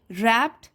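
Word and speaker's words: wrapped: हैं उसकी मालकिन से रैप्ड इन a blanket W silent है इसमें रैप्ड इन अ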